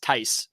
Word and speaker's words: Theis: he's a European gentleman whose name is pronounced Ty whatever man but I